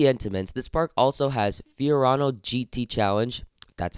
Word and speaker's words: Fiorano: amazing besides the Entenmann's this park also has Fiorano GT challenge that's how you pronounce it which looks like good fun they